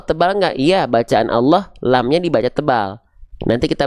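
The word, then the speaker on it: الله: Eh kenapa lamnya dibaca dengan seperti vokal O? Karena lam ketika lafaz Allah dalam kondisi tertentu dia dibaca tebal.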